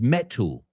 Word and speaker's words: metal: He says metal. What, do you have a metal detector? But for Americans, that T is a D.